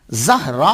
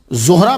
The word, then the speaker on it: زہرا: ساتھ آتا ہے۔ لأنہا زہراء المصطفیٰ، یہ چمک ہے محمد مصطفیٰ صلی اللہ علیہ وآلہ وسلم کی۔ ایک تلفظ زہرا بھی ہے، را کے بعد گولتا، تو گولتا جو ہوتی